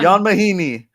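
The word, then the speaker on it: Ian Mahinmi: Jan Mahini. For- Spurs and born in Born Europe. in Europe. It's How do you even- it's spelled like Ian, IAN, but it's pronounced Jan.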